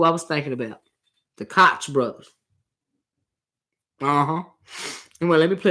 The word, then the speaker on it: Koch: They are pronounced the Koch brothers, but I refuse.